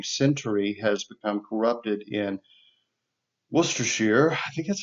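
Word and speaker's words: Worcestershire: It's the same town for which we have our Worcester sauce or Worcershir sauce. It's spelled Worester, but of course they don't pronounce all the syllables.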